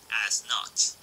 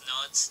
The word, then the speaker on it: Nödt: and the fear-inducing Byakuya-killing Nödt. By the way, I'm trying to pronounce it as Nödt, not Nödt, but you really can't unhear it either way, so yeah.